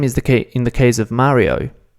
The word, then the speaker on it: Mario: Mario doesn't read Mario, it reads Ma-ri-o. Mario, Mario, Mario. You basically pronounce each letter individually, and that sound doesn't get altered, and it stays the same no matter what word or what context.